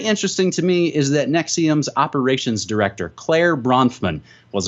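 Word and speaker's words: NXIVM: alleged sex cult nexium in XIV M pronounced nexium in addition to the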